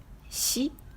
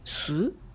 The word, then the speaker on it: 子: En onyomi, on lit shi ou su. En kunyomi, on lit ko ou ne.